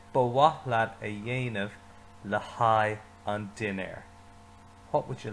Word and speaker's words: haghaidh: one 3 times because that word after le is a long word, but it actually has a lot of silent letters. All it says is hi. Cared ba waithlat a dhéanamh le haghaidh an dinner.